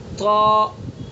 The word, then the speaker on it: ط: بھی غلط ہے۔ اور بہت سے لوگ توئے پڑھتے ہیں، توئے زوئیں، توئے زوئیں، یہ تلفظ بھی غلط ہے۔ توا یہ بھی تلفظ غلط ہے، بلکہ اس کو سیدھا الف کے ساتھ پڑھیں گے، تا تا تا، یعنی جہاں جیسے تا کو ادا کریں گے اسی طرح